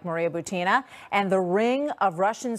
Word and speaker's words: Butina: I mean, Maria Butina, by the way, is Butina. How it's pronounced, has been on my radar screen and a number of others for quite some time.